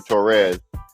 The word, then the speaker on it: Torres: So me and Senor Torres, excuse me, I pronounced it wrong. You got to roll your R's in Spanish, y'all.